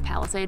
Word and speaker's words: Palisade: I think I might have said it differently this morning, but it's Palisade, it's how you pronounce it.